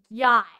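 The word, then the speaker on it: gyat: Yacht. Like G-O-T? Can you spell it for us?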